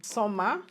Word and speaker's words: Svmer: Hey guys, before we continue with this video, I want to say a very big thank you to Summer for sponsoring this video. It is spelled SVMER.